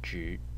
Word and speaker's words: 只: one will be about the Chinese character J in the third tone and uh when it is pronounced in the third tone its meaning is only as in I only have um I don't know $5 or something like that and there is also the pronunciation in the first tone and in this case